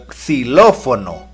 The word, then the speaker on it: xilófono: fue o no xilófono cuál es el primer sonido que oyes el sonido es cuando la x se encuentra al inicio de una palabra se pronuncia como s por ejemplo xiomara pero